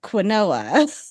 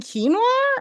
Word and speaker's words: quinoa: said this word and I said it as quinoa. I was about to say, was it quinoa? And my sister looked at me and was like, do you mean quinoa? And I was like, that's not how it's spelled.